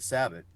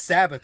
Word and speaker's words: Sabbath: they have a song called come to the Sabbath and uh it's clean song and he says